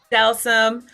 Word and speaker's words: Delsym: Delsym.